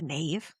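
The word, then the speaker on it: Knave: um but the uh the is it the nave do we pronounce it the nave because it's kn a ve so we're like knife k nave Scurvy Nave, like a Romeo and Juliet insult.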